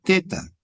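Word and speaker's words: θ: Eh, viene, ¿cómo te pronuncian? Eh, teta viene a ver ser el famoso sonido dentilavial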